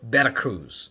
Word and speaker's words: Veracruz: And I also went to a state called Veracruz, or Veracruz, the way that the Mexicans pronounce their V's.